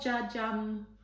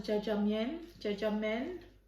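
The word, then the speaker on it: jjajangmyeon: I think it's pronounced as jjajangmen.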